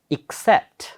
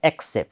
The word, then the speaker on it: except: except except except except except okay with the stress second syllable How many syllables two except it's not accept right people have found people